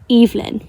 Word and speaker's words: Evelyn: this hi hello and their Nam names were pronounced eelyn their names were pronounced evein right and that makes sense to me because Evelyn however online I've seen